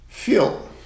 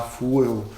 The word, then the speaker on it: feel: A segunda é feel, Não é tão difícil, mas uma pessoa mais leiga, lendo essa palavra pela primeira vez, que não sabe inglês, ela vai falar fuel ou alguma variação disso.